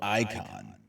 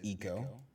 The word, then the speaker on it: Ico: coincidence therefore it's perfectly reason and reasonable to pronounce it following the english model of icon but it's actually eco is that what you're